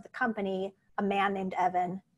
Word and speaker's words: Evan: company a man named evan his name rhymes with dev and it's kind of